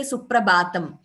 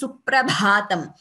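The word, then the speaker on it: Suprabhātam: So when we say Shri Venkateshwara Suprabhatam, Bha is Mahaprana. So it is wrong to say Suprabhatam. It is Suprabhatam.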